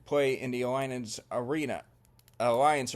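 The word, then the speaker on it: Allianz: in The Alliance Arena Alliance Arena that's how they say it although they spell it a l l i a n z instead of the C at the end and that's the home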